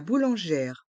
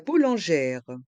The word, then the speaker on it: boulangère: d'eau minérale prononçons la boulangère la Bou lanère le E accent grave se prononce e ger et le R de boulangère reste en suspens la Bou boulangère la